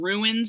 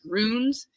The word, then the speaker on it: runes: the shape of runes I was saying ruins before everyone wanted to kill me for saying it like that and I apologize but it's runes and um they basically